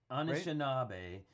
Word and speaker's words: Anishinaabe: Thank you for putting it here phonetically. Anishinaabe, right? Anishinaabe.